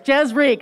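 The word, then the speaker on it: Jez Reich: I've been pronouncing his name wrong for like 4 years. Jez Reek.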